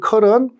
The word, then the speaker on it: curl: 개로 발음할 수 있는데 대부분은 컬이라고 발음 보니까 혹시나 학생 여러분들이 curl을 본다면 이렇게 발음하셔도 될